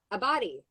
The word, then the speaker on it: Abbate: Abbate.